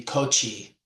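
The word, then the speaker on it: koṭi: Or like Koti, if there's a dot under the T, it'll be Kochi.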